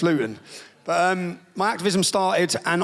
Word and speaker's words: Luton: So I say Luton, it's Luton, you'll all know it as. In Luton, we don't pronounce our T's, it's water, it's bottle, so it's Luton.